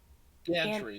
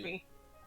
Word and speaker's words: gantry: Gaintry? Spell it again. Gantry. Gantry.